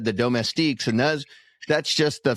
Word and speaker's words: domestique: the Domestique uh uh uh How do you pronounce that? Domestique? Domestique.